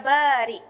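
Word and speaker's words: بارئ: Saya selalu sebut dengan sebutan yang tepat, Ya Bari, iaitu Hamzah. Ya, Hamzah, bukan Kaf. Bahkan dalam banyak ceramah dan kuliah, saya betulkan. Saya kata ejaan Kaf tu, Ya Barik, itu salah. Yang betul adalah Ya Bariun.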